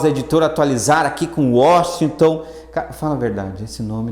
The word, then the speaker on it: Washington: Por mais que a pessoa fale Washington, a única pessoa que me chama de Washington, certinho, pronunciando, é minha avó, que é paraguaia.